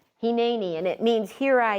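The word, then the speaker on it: הִנֵּנִי: That word is pronounced Heni. Heni, and it means here I am.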